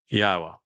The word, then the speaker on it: Yahweh: Yahweh, again, the proper pronunciation of the name of Eloah, God, as